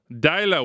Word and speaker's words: Deila: His name, we think, is pronounced Ronny Deila. Deila.